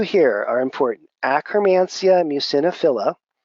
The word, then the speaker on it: Akkermansia muciniphila: Akkermansia muciniphila, or often pronounced Akkermansia muciniphilia, okay, is a very important bacteria for maintaining the mucosal or mucin layer of the gut.